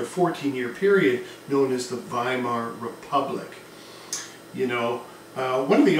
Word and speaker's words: Weimar: the town of avemar w's are pronounced like these when you're speaking German so hence by Mar as opposed to my mark either is fine though potato potato whatever